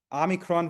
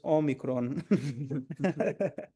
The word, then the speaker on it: omicron: So if somebody says Amicron virus, you're going to have to correct them and says it's Omicron.